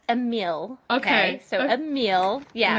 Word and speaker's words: Emile: like what he goes he thought it was Emily and he said Emily is a guy and I was like oh it's AAL it's pronounced AAL okay so AAL yeah I'm going to tell